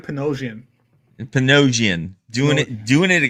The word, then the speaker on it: Panosian: dude I'm here I I pronounce it Dan panosian panosian doing it doing